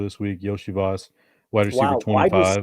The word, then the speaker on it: Iosivas: Is that how you pronounce it? Because I always get names wrong. Iosivas. Yoshi, like Yoshi. Like Mario's friend. Yes. Yeah. Yes. Yeah. Yoshi Okay. Voss. Yoshi Voss.